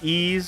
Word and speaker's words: Ys: Anyway, as far as I know, the game is pronounced like Ys. Someone can pronounce me like... Or can correct me on that if that's not the case.